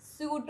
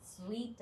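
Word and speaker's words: suite: വരുന്ന ഒരു റൂമാണ് ഇത് സ്യൂട്ട് റൂം എന്നാണ് നമ്മൾ യൂഷ്വലി പറയാ പക്ഷേ ഇത് ആക്ച്വലി സ്വീറ്റ് ആണ് ഓക്കേ സ്വീറ്റ് റൂം അതായത് നമ്മൾ മധുരം എന്ന് പറയുന്ന ആ ഒരു വേർഡിന്റെ ഉച്ചാരണമാണ് ഇതിന് ആക്ച്വലി സ്വീറ്റ് റൂം ആണ് സ്യൂട്ട് റൂം അല്ല സ്യൂ അല്ല സ്ൂട്ടും അല്ല ഓക്കേ സ്ൂട്ട് എന്നും പറയില്ല സ്യൂട്ട് എന്നും പറയില്ല ആക്ലി സ്വീറ്റ് room okay like to book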